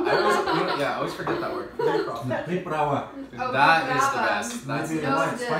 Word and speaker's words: приправа: Приправда. I always forget that word. Приправа.